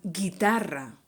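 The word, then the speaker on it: guitarra: u is mute and guitar not guitar once again the u is mute and since we have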